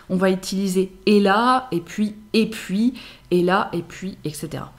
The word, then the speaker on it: et puis: Et puis. Et puis. Parfois prononcé « et puis ».